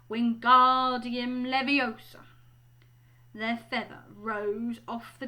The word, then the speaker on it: Wingardium Leviosa: much more luck when Guardium levy he shouted waving his long arms like a windmill you're saying it wrong Harry heard Hermione snap its Wingardium Leviosa make the GAR nice and long so you do it